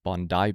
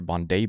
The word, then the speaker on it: Bondi: happened in and I've been told I was pronouncing it wrong. It's not Bondi Beach, it's Bondai Beach or Bondai Beach.